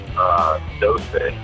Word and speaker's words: doce: Well, Joey, what is the correct way to say 12? I think there's actually 2 different ways to say all the numbers between 11 and 19. But the one I remember is doce.